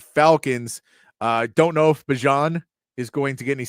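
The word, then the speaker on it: Bijan: Uh, don't know if Bjon is going to get any snaps. Gotta say it right. Don't know if Bjon is gonna get any snaps tonight.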